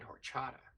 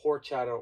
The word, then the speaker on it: horchata: Like it's either horchata or horchata, because that's the way that I've always learned how it's said. Because the H is silent.